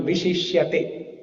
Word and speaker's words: viśiṣyate: did not know this, if there is a dot below S, it is Sha. For example, viśiṣyate. Now there is an apostrophe above S, that also has to be pronounced as Sha.